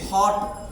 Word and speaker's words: hot: HOT, हॉट। हॉट है ओ, लेकिन उच्चारण कैसा कर रहे हैं हम? आ की ध्वनि में आ रहा है।